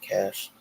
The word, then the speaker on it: Kach: The Tanya Cash story. And remember, Cash is spelled Kach.